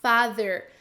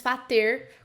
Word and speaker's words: father: My father, lembra de colocar a língua entre os dentes na hora de pronunciar father, né? Porque tem um TH e não é father com D, e muito menos fater com som de T.